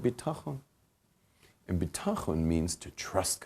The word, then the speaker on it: bitachon: Lacks bitachon. Bitachon, everyone practice that Hebrew word, bitachon.